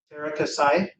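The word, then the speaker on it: Teras Käsi: Terra Kasai.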